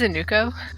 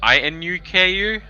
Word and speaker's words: Inuko: Also, her name's Inuko. Whatever, you're Noku Oh, now is it? forever, sorry. DM Yeah, keeps Oh, no, it's pronouncing it Inuko? wrong. So I-N... Oh, so it's I-N-U-K-U?